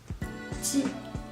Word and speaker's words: ji: You just need to put your tip of your tongue down behind your lower front teeth as you pronounce J in Jeep.